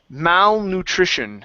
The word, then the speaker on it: malnutrition: Okay, give me a short I instead of nutrition, nutrition. Malnutrition. Okay, one more time. Malnutrition. Malnutrition. There you go. That's the short I sound.